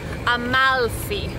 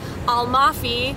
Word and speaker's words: Amalfi: made the mistake too i think it's more natural for us to say almafi in english it is actually amalfi and if you really hang on the l it'll come off more naturally on the tongue amalfi coast oh